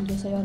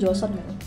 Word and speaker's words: Joseon: Kalau di aku kan belum baca sejarahnya asli tuh yang Je Jos Jos eh Joson Joseon bacanya tuh sebenarnya Joson. Joson tulisannya Joseon. Emang lidah Indo aja bahasanya Joseon.